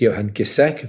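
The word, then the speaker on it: Johan Giesecke: the former chief epidemiologist johan gisek that's correct pronunciation of his name so ferguson's models were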